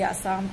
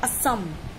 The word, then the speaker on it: Assam: इट्स आसाम, इट्स आसाम, इट्स नॉट असम। आप लोग बहुत व्याकरण देते हो, हिंदी भाषा, तो आप हिंदी पहले बोलना सीख लीजिए। आप भारतीय है, आप भारतीय होके प्रोनाउंसिएशन इतना मत बिगाड़िए किसी स्टेट का। इनका नाम है आसाम, आसाम, असम नहीं है।